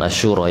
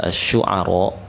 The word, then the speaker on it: Asy-Syu'ara: Bukan Asy-Syura ya, Asy-Syu'ara. Asy-Syu'ara. Dapat Asy-Syu'ara ayat 61 ayat 62.